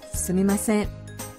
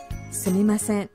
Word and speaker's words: すみません: Pengucapannya seperti ini. Sumimasen. Sumimasen.